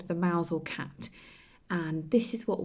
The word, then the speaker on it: Mousehole: Now it's spelt Mousehole, but in Cornwall they call it Mousehole.